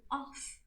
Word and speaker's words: of: We noticed that I have the word off. How do I pronounce it? I say off. While the word of with one F, I say it of.